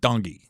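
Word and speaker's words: Tongi: it and then this his name is spelled t-o-n-g-i but I guess in his culture it's spelled Dungy the T is like a d uh he sings this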